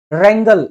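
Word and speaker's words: wrangle: भांग खाके जगड़े लगा रंगल रंगल भाई इसमें में डब्लू साइलेंट रहता है रंगल का मतलब भी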